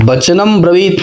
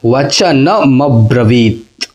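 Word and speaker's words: वचनमब्रवीत्: राजा वचन म ब्रत वनम ब्रत नहीं वचन म ब्रत ठीक है ना और ये ता का लोग पूरा उच्चारण करते हैं म ब्रत तो य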